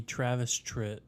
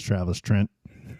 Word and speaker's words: Travis Tritt: Third favorite would be Travis Tritt. Also known as Travis Trent.